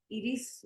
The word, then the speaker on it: Iris: It's Iris. Iris? Iris in Spanish, but it's Iris.